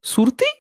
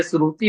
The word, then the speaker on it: श्रुति: सुरती मतलब आप क्या तंबाकू की बात कर रहे हैं? सब सुरती, खैनी, तंबाकू? सही से शब्द का उच्चारण तो कर लीजिए, श्रुति बोला जाता नहीं है, नहीं नहीं,